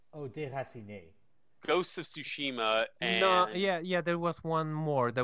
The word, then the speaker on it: Tsushima: Ghosts of Tsushima and There was one more, weird one.